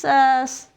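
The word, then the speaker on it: ψ: It should be pronounced psi, I believe.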